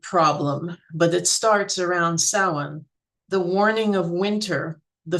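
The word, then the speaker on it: Samhain: Um, it looks like it should be Sam Hayne, but it's actually pronounced closer to sin.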